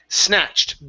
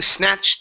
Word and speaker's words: snatched: snatched the word is snatched being snatched up being snatched is snatched snatched up okay now with snatched let's go right to the s instead of saying a snatch e okay take off the E it's being being